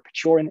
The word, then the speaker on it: Pechorin: natural starting point with Vladimir Pechorin, or Pechorin in the Russian pronunciation.